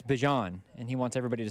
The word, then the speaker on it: Bijan: It's Bijan, and he wants everybody to say it correctly.